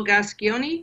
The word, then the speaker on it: Gascoigne: You have a footballer there in the UK, the Paul Gascoigne, is that how you pronounce his last name?